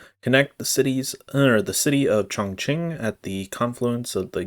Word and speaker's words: Chongqing: Google like pronunciate or whatever, and it said Chongqing. That's apparently how it's pronounced, according to Google. So that's what I'm going to say. Connect the city of Chongqing at the confluence of the Yangtze and Jiling,